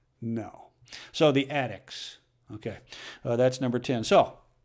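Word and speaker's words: Addick: supporters are addicts no this is the Attic a DDI CK thought to be a mispronunciation I guess or a heavily accented pronunciation of haddock because back in the old days after the game a local fishmonger would give all the players a bit of haddock or attic so don't worry I'm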